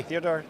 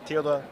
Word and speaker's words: Theodor: Theodor, did I pronounce it well? Yeah, perfect. Okay. Theodor. Theodor. Or just A Theo. little bit Theo, that's more common.